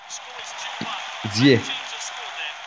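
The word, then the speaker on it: Ziyech: Ziye demiyorum arkadaşlar. Ziye diyorum. Bunu da söyleyeyim. Bazı kardeşlerim yanlış okuduğumu telaffuz ettiğimi söylemişler ama Hakim Ziyeh diyorum ve çok güzel bir gol.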